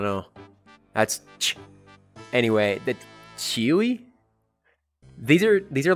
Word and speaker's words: ĉiuj: Chewy? Chewy? It's like... C circumflex I U J, which makes a Y sound because it's like the IPA or whatever.